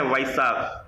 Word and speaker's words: Wysa: Service start की है जिसका नाम है वाइसा। अब ऐसा वैसा नाम है कि प्रोनाउंसिएशन करना मुश्किल है, तो आप स्पेलिंग लिख लो WYSA।